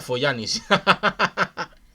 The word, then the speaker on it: Fogliani: Se pronuncia Foglianis.